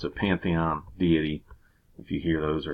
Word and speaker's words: deity: birth death victory etc a deity is a god deit why that's how it's pronounced that is another word